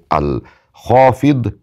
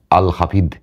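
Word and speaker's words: الخافض: আল্লাহ সুবহানাহুওয়া তা'আলার গুণবাচক দুইটি নাম একটি হচ্ছে আল খফিদ আরেকটি নাম হচ্ছে আল হাসিব খুব খেয়াল করে নামগুলো শুনুন নামের মধ্যে যে উচ্চারণ রয়েছে উচ্চারণ যদি সঠিকভাবে না করেন কোন কাজ হবে না আল খফিক ফিদ।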